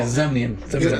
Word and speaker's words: Zemnian: Zemnian. I'm sorry. Good call. Good call. It's pronounced Zimian. It's pronounced Zimian in it.